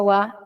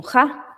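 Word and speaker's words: は: Por esa razón es que aquí se pronuncia wa y no ja, porque está como marcando el sujeto de este día.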